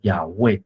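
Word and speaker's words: 雅卫: 就变成 YHWH，这 4 个字母拼起来的发音叫做雅卫，这就是对神的尊称啊。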